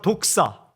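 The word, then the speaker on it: δόξα: 헬라어 말로 독사. 뱀 이름이 아니라 독사라는 발음을 가지고 있어요.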